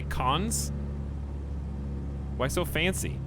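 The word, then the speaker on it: Cannes: you say cons why so fancy it's like great boupon it's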